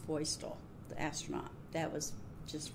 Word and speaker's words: Feustel: thing the reception for drew is named actually pronounced feustel the astronaut that was just really neat too